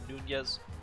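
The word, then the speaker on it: Núñez: the PA announcer and he did pronounce it Nunez so there's just a hidden tilde there so hopefully I can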